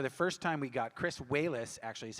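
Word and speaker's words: Chris Walas: And to do it, for the first time, we got Chris Wallace, actually is how you pronounce his name, and Rick Baker, and put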